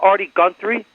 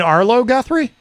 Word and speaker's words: Arlo Guthrie: Have you ever heard of Artie Guthrie? Did I say his name right? You mean Arlo Guthrie?